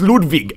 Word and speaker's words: Ludwig: lem's room no it's ludvig ludvig vonas his name is ludig it's with the I think it's like German or something that's why it's pronounced that way ludvig all right let's